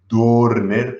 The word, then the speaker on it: Dörner: Dörner, pero con dos puntitos, entonces se pronuncia Dörner, según me enseña mi mujer.